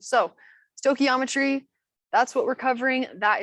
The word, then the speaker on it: stoichiometry: little pronunciation guide so we say it like Stoichiometry some people pronounce it Stoichiometry and we still accept those people as okay but I prefer to pronounce it as Stoichiometry so Stoichiometry that's what we're covering that is the new